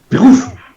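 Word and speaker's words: Beruf: Les U se prononcent OU. D'accord. Bérouf. Bérouf.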